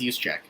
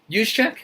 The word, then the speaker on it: Juszczyk: one, I think, Kyle Juszczyk. I want to say it's pronounced Juszczyk. Okay. Juszczyk? Yeah. Kyle Juszczyk of the San Francisco 49ers, guys. Don't get fooled by the name. It starts with a J.